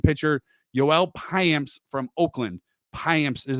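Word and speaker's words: Payamps: receive right hand pitcher yoel payams from Oakland High amps is how you pronounce that last name I had to Google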